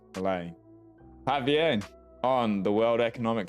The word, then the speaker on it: Milei: So that's how we say his name, Milei.